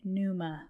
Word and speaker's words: Pneuma: haven't seen Newman it's spelled PN e m a puma like pneumonia but it's not pneumonia has nothing to do